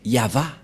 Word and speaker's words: Yahvah: vav et he et la prononciation de ceci c'est yava voilà la prononciation de